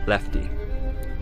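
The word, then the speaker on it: LEFTE: blueprints were discovered and one was titled l-e-f-t-e pronouncing lefty the letters stand for lure encapsulate fuse transport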